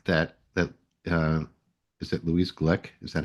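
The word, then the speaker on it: Glück: I got from that that uh is it Louise Glick is that how you say her name yeah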